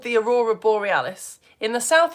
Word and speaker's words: aurora borealis: So, what we've just been learning about is it's In the north, it's called the aurora borealis. In the south, it's called the aurora australis. That's how you pronounce it.